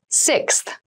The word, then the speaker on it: sixth: fifth floor don't you sixth sixth sixth so sixth refers to the number six of something this is a really good word to practice some pronunciation slow down that sixth that middle part there the sixth book